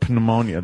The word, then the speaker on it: pneumonia: PN thing ponia p p that's how it's pronounced pneumonia there's a p in front P of course